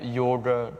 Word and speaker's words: yoga: milhares de anos atrás não existe a pronúncia do o aberto então a única opção na verdade possível é yoga com o fechado mesmo tanto que em todos